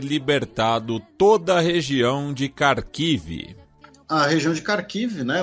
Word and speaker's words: Kharkiv: Ucrânia anuncia ter libertado toda a região de Kharkiv. A região de Kharkiv, né, ou Kharkov, na pronúncia russa, a gente sempre fala isso, né?